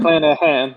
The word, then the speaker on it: McClanahan: McClanahan? McClanahan.